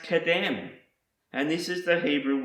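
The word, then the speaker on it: קדם: The next word I want to show you is pronounced kadem, and this is the Hebrew word for east.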